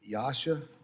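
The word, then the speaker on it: EASA: such as uh and I don't know if I Yasha is that how you pronounce that? You got it.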